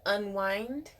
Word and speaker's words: Unwind: Number 370, Unwind, spelled like wine.